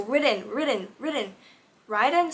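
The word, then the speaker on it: Riden: listen to the audiobook, apparently his name is pronounced Ridden. Who's Ridden? Who's Ridden? All I know is Raiden. I don't know. No, why is his name Ridden? His name is spelled out R-I-D-E-N. Why is it pronounced like R-I-D-D-E-N?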